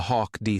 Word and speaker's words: HAWCD: A Hawk D system. A high-altitude, all-weather controlled descent system. Everyone pronounced it Hawk system, though, because soldiers like to have acronyms that sounded right.